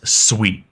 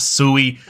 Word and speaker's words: Sui: first off what is sweet and first off what's how is it pronounced it is Sweet It Is Not sui I've been corrected multiple